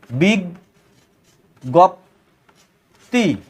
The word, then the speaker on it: বিজ্ঞপ্তি: হচ্ছে বিজ্ঞপ্তি এখন লিখবো বিজ্ঞপ্তি উচ্চারণটা কেমন দেখো বিগ গপ্তি তাহলে আমরা কি দেখলাম